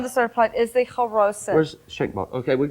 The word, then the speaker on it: charoset: Okay, it's pronounced charoset with a at the first, charoset.